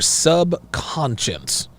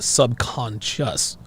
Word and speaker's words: subconscious: from your subconscious your sub conscience your sub conscience it's pronounced subconscious a grenade this girl this